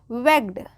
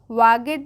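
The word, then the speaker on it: wagged: never ध्यान से सुनिए डब्लू A double ji ई डी क्या हो जाएगी वेड वेड वागड नहीं पढ़ेंगे इसको वागड नहीं क्या हो जाएगी वेक्ड its tail T ए आई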